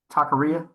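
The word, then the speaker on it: taquería: So, working at this Takaria, Takaria is how you pronounce it.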